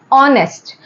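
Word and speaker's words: honest: हमारा कॉन्सोनेंट है लेकिन जब हम इस वर्ड को प्रोनाउंस करते हैं तो हम इसे कैसे प्रोनाउंस करते हैं ओ से ऑ ऑनेस्ट तो क्योंकि ये ओ है और ओ हमारा यहां ओ साउंड आ रहा है तो इसीलिए ये हमारा क्या हो गया एन ऑनेस्ट तो ये मैंने आपको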